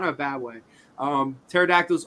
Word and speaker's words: pterodactyls: Pterodactyls are the lasagnas of the dinosaur world, hence silent letters.